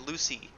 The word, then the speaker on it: Lucy: where I'm like, yeah, every time I see the name Lucy, I pronounce it Lucci.